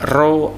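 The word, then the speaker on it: ρ: F sama dengan 1/2L akar F dibagi rho A. P seperti huruf P itu rho bacanya ya, massa jenis artinya.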